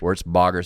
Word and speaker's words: Wertzbaugher: podcast uh today's guest Seth Feldman of uh warts Bogger did I pronounce it right yes sir warts Bogger Services warts Bogger services in West Liberty Iowa